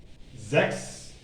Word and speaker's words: sechs: When you see this, you might say sech, which is wrong. So sechs, this is how it is pronounced actually in German.